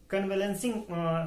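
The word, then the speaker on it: convalescing: और अगर हम वर्ड का प्रोनाउंसिएशन देखें तो कन्वेलेंसिंग होता है, स्पेलिंग आपके सामने होगी, और इसकी मीनिंग होती है recovery once health after some time of illness.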